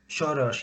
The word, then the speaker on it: Soros: Soros.